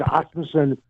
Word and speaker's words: Asmussen: It's Asmussen. Nobody ever pronounces it correctly.